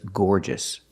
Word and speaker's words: gorgeous: is gorgeous so remember adjectives ending in o u s are pronounced with a short sound at the end gorgeous nervous famous we